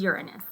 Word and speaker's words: Uranus: know but it's it but it is uranus let's call it uranus let's let's use correct pronunciation all right so um